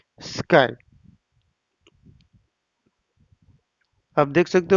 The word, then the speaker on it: SKI: कि service quality index, जिसको हम स्काई भी बोलते हैं, SKI, यानी कि हम इसको प्रोनाउंस कर सकते हैं SKY, यानी कि स्काई भी प्रोनाउंस किया जाता है कई बार।